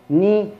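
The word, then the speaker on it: knee: كذلك نفس القصة بالنسبة للكي، لو جاء بعدها إن فإن الكي لا ينطق، مثل كلمة الركبة ني، أو I know I don't know أعرف لا أعرف.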